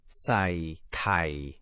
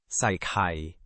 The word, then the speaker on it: ใส่ไข่: ไข่ก็เสียงเอกค่ะ Oh, the word for egg is also a low tone. So both drop. Let me try it slowly. ใส่ไข่ ใส่ไข่ It means add egg.